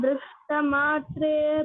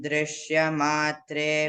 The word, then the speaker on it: दृष्टमात्रे: दृष्टमात्रे स्पष्टं दृष्टमात्रे पुनरुरुपुरुषार्थात्मकं ब्रह्मतत्त्वम् Very good. अस्पष्टं दृश्यमात्रे Drishya no. Drishta.